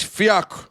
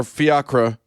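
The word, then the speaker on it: Fiachra: St. Fak uh or Fiakra if you if you go with the Irish pronunciation.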